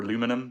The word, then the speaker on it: aluminum: The absolute best material that everyone tells me is aluminium or aluminum, depending on which country you're from and how you pronounce it.